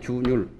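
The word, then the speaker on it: 峻慄: 무서워할 준자입니다. 준율. 전율한다는 것처럼 밑에 율자는 떨율자죠. 전율한다. 전율할 율자. 실해 한해라고 하는 것은 아주 엄밀하고 또한 위험스럽다고 하는 것은 준율함이요. 준율입니다. 전율과 같은 거예요. 준율. 발음이 준율. 글자가 까다로우니까 내가 씁니다.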